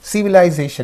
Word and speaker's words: civilization: Similarly, civilization is there. Civilization. So the suffix is here, and what is the syllable preceding the suffix means J. So you have to say civilization.